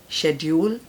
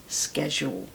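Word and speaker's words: schedule: आप सबको पता होगा ब्रिटिश इंग्लिश इ शेड्यूल American is स्केज right okay एक ये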